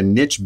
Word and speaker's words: niche: not to create a niche business as there are people who have opinions on how to pronounce Niche like quiche or like ditch personally I prefer to